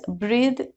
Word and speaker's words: breath: When it is the noun, it is pronounced as breath, and when it is a verb, it is pronounced as breathe.